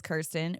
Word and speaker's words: Kirsten: my name said like I don't really like being called Kristen or ksten or all them say my name Kiren but if someone messes it up I'll be like hey it is Kirsten but also if someone